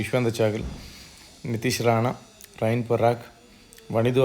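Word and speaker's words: Yuzvendra Chahal: Second ஹாஃப் players பார்த்தீங்க அப்படின்னா சஞ்சு சாம்சன், யுஷ்வேந்தர் சாகல், இந்த தடவை மாற்றிட்டேன், கரெக்டாக ப்ரொனவுன்ஸ் பண்ணேன். யுஷ்வேந்தர் சாகல், நிதிஷ் ராணா, ரயின் பராக், வனிது ஹசரங்கா, சந்தீப் சர்மா, குமார் கார்த்திகேயன்.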